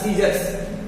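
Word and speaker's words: scissors: science science mains आई बन गया science सी silent हो गया यहां पे यहां पे सीजर्स सीजर्स मीस होता है कैची देखिए सी सी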